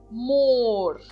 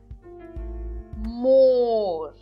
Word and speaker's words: Moor: Moor. Moor. Então eu enfatizo aqui em azul de novo a parte que nós pronunciamos de forma enfática na palavra, que significa pântano em português.